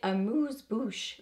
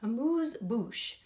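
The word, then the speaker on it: Amuse Bouche: is the bite Beauty a moose Boosh lipstick in sugar cane apparently you have to say it like that a moose Boosh so here is what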